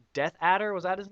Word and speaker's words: Death Adder: about death ater and uh he Nate kept pronouncing it as Darth AER and he thought it he was just like